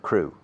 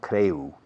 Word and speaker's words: crew: No, the pronunciation is not creu. No. Crew. Crew. Tripulación, crew. Crew. Pones un S delante, es tornillo. Screw. Okay. La EW en inglés tiene un sonido de U pura, como Jerry Lewis.